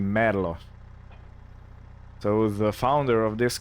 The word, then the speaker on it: Merlo: this uh machine and it's not a Merlo Merlo would be American or British uh it's actually mlo so the founder of